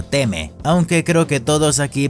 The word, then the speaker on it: Timmy: algo estadounidense Ya que en el idioma original no se pronuncia como tal Timmy se algo como teme aunque creo que todos